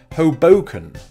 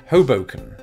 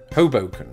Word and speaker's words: Hoboken: I think on Hoboken so I put the emphasis on the middle syllable until I looked it up and apparently neither of my first attempts were correct people there and I think just people in the United States in general nobody gave me the memo and pronounce it Hoboken Hoboken though the emphasis being on the first syllable apparently this is named